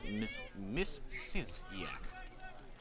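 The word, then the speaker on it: Misiaszek: And looking at it phonetically, you would not think that, but the pronunciation's in their media guide says Misiziak. Spelled M-I-S-I-A-S-Z-E-K. Somehow you get Misiziak out of that.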